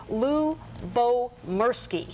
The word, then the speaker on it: Lyubomirsky: including the um publisher to find out it's Lou Bo mki yeah let me say it correctly couldn't she